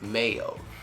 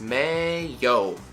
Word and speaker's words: mayo: everyone everywhere and it's the short version mayo mayo it's may yo right mayo let's keep